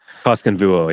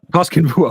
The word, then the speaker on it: Koskenvuo: I'm looking at your top 20 list here, and I know you have, I'm going to mispronounce this, but Aku Koskenvuo? Koskenvuo, yep. Koskenvuo, okay.